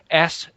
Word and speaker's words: S/H/IT: On the slime pit, it is she, he, it, which is written as S/H/IT and pronounced shit, as in, what did shit say on that podcast?